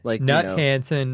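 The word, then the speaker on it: Knut Hansen: Gin we use the how did you pronounce it nutson it's nut nut H it's like k u space Hansen like Hansen Brothers okay nut Hansen like but really we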